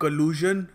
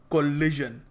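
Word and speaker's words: collusion: दो वर्ड समझाऊ एक के बाद एक एक कलज और एक कोलिजन दोनों में कभी-कभी लोगों को कंफ्यूजन हो जाता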